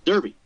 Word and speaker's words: Derby: said and she responded it's pronounced Derby thus was the battle joined aspirated words my good woman hung a parent the one spoken in the air please turn the plate over I insisted pray tell me what it says made in England she discerned how do they pronounce Derby in English Victory now assur thus